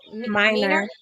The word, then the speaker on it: Miner: Minor.